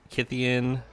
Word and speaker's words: Kytheon: I know some people say Kytheon, but from what I've read from Wizards, Kytheon is supposed to rhyme with Gideon, in a way. So, and you don't say Gydeon unless you have Asperger's syndrome or some weird disease.